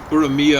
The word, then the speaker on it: Urmia: Urmia, I think, is the way the Iranians pronounce it at first.